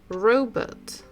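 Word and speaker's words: робот: again the tricky one because in English it makes sound P letter P but in Russian if we compare the picture we'll just look at the picture we know that this is a robot robot so in Russian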